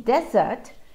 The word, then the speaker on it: desert: matter of syllable stress in desert the stressed syllable is the first syllable in this that the